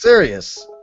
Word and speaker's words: Sirius: It's pronounced Sirius.